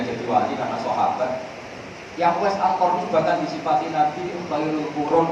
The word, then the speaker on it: Uwais al-Qarni: Bacanya Uwais Al-Qarni, jangan salah harokat.